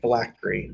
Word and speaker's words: phylactery: The phylactery, which, by the way, Eli, is the proper pronunciation, is a tool that's used to allow you to transfigure your soul.